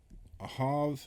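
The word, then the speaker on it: אָהַב: always got these confused Ava has the sound before the the hey ahav has the sound at the end of the words okay and so love the V sound in love is at the end of the word in Ava the V sound is earlier I think of like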